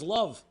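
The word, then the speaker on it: לב: Perek Lamed Beis, Lev, pronounced as love.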